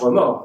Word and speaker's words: remords: In French, remords, you don't pronounce the final S.